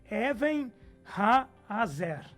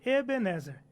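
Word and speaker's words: אבן העזר: A palavra em si, na pronúncia correta de Ebenezer, é Even Ha-Azer. Even Ha-Azer. Veja que é duas pronúncias seguidas, e não uma só. No português nós temos Ebenezer.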